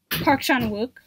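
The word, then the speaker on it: Park Chan-wook: love shanwyn i can never say his name park sean wook thank you what she said um i love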